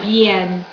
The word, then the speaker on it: bien: just another example of why it's pronounced bien. Because that I, English I by itself is E.